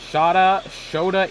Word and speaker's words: Shota: Shota Imanaga. Okay, well, I was wrong on pronunciations of both his first and last name.